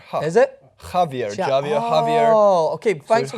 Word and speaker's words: Javier: I'm correct, J's are pronounced with an H sound. Ha. Is it? Javier, Javier.